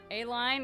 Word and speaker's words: Aline: Just like Aline, I've never heard the name Aline. If I didn't hear them pronounce it, I would think it was pronounced A-line.